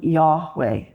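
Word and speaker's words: Yahweh: Divine name name uh if we were to pronounce it which a Jewish person an observant Jew would not because the name is so holy we'd probably pronounce it something like yahwe and it plays with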